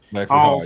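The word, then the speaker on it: Lexie Hull: Lexi Hall.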